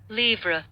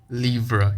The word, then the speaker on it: livre: Let's find out the pronunciation of liver. On American, we can find out the pronunciation, obviously, or along with the meaning. Livre. Livre. It's livre.